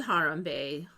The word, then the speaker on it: Harambe: No, they killed Harambe.